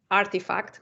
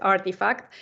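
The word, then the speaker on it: RTFKT: esto es Nike que se compró artifact se lee así se escribe rtf kt pero es artifact y e se lo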